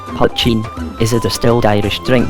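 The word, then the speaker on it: poitín: helpful or kindly one protein protein or poison pronounced patching is a distilled irish drink that can be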